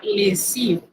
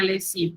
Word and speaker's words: lessive: Nótese que lessive lleva doble S, por lo cual usted menciona al pronunciar es una S, no una Z como en otras palabras.